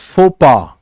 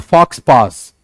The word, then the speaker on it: faux pas: The pronunciation is faux pas. Faux pas. It's not fox pass. It's not fox pass. It is faux pas. It's a French word.